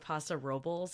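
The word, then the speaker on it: Paso Robles: did a trip to san luis obispo at pasa robles i've learned that's how you pronounce it yeah which is what i and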